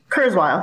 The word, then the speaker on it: Kurzweil: Is that how you pronounce his last name? Am I getting that right? Yeah, Kurzweil.